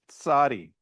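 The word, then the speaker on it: Tsadi: It's Sadi, right? It's you make the T sound before the S sound as you say the name of the letter.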